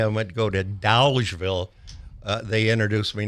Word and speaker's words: Dolgeville: Here in Utica, they call it Dodgeville, and I keep trying to remind people it's Dolgeville. Yeah. Well, there's an L in there.